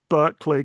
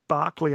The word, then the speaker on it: Berkeley: I suppose it's like the difference between Berkeley California and Bishop Barkley after whom it was named.